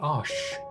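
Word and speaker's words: Arches: nice okay archers oh i think they pronounce it ash it's french it just allows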